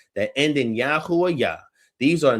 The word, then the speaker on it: Yahu: If yay wave were the original spoken form, we would expect to see it reflected directly in names. In instead, what we see consistently and overwhelmingly is Yahoo. This strongly suggests that Yahoo